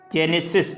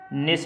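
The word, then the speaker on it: gneiss: अब यहाँ पे मेटामॉर्फिक की बात करें तो उसके एग्जाम्पल में मार्बल, स्लेट, क्वार्टजाइट, जेनेसिस, ठीक है, निस है ये, इसको अलग प्रोनाउंस करते होंगे, ठीक है, ओके।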